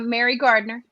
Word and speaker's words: Mary Gardner: While you're doing that, shout out to Mary Gardner. Is that how how you pronounce her name, Mary? Mary Gardner, yes. I would have never said Mary. I'd have Frenchified that.